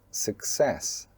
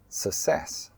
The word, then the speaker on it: success: And the correct pronunciation is "success" "success". Don't say "sussess" "sussess".